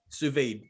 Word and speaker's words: sous vide: Sous vide. Damn it. That sounded right to me. SOUSVIDE. Oh. Yeah, the French have a really nasty habit of leaving the last letter off their pronunciation of words.